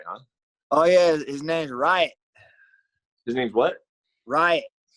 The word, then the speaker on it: Riot: His name's Riot. His name's what? Riot. Right? Riot. Like a riot. R-I-O-T.